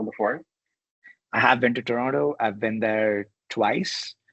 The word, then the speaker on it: Toronto: I've been there twice I'm still learning to say it like the locals do I think you got to you got to not say the last te right it just slips off your tongue but I'll get there